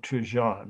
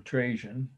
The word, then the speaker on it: Trajan: This is the Column of Trajan, or Trajan. People pronounce it both ways.